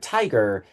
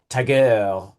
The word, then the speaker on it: tiger: That when you say the word tiger, you have to emphasize the first syllable. If you emphasize the second syllable, tiger, you sound like you're doing a silly French accent, right?